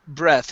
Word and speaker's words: breath: uh this word here this is breath I took a deep breath instead of breathe breath okay breath breath it's noun breathe its verb exactly you're exactly right